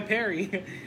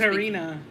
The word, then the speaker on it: Perina: Why Perry? Oh, it's Perina.